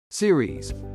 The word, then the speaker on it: Ceres: no longer considered to be a true planet series pronounced C or EES was once considered the largest